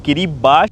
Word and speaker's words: किरिबाती: किरिबाती लिखे रहता है लेकिन इसको प्रोनाउंस करते हैं किरिबाती।